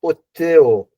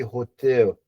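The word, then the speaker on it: hotel: دو و ت ببینید در زبان پرتغالی اچ اچ اچ اول کلمه تلفظ نمیشه میگه نوع دو اتو اتو نمیگی هتو میگید هتل و علم آخرش یک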